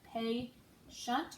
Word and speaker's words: patient: our next word is patient we have patient it's two syllables so first syllable we have a the second syllable we have shent we're gonna use that